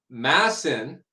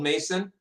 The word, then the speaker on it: Masson: So Donald Masson, I'm sorry. I said it was Donald Mason, and I was corrected before.